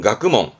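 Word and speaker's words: 学問: 발음은 가끄멍.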